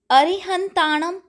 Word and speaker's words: अरहंत: विकल्प से होता है दूसरा अरिहंताणं और अरहंत दोनों ही सही है तीसरा अंतिम में